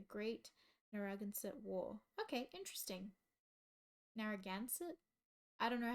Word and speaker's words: Narragansett: Narragansett?